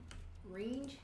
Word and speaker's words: Renge: I feel like the E at the end, the silent E at the end makes the first vowel long, so it's more like Renge.